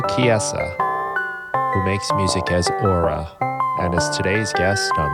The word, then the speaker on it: OORA: On today's show, I have Federico Chiesa, who makes music as OORA, and that's spelled O-O-R-A.